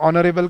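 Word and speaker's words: honourable: आर के सामने या ऑनरेबल के आगे एन क्यों लगता है, फिर मैम बताती है कि बेटा इसमें एच साइलेंट होता है ना।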